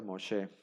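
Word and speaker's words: משה: hem aquí Entonces ya entonces se pronuncia mosé y ese sería Moisés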